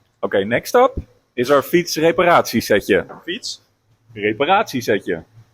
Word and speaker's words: Fietsreparatiesetje: Okay, next up is our fietsreparatiesetje.